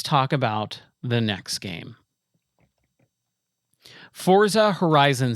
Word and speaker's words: Forza: So, you cannot pronounce it forza. It's forza because it's fo r za. And if you were Italian, it would be forza. You would roll the r. You would not put a t in there.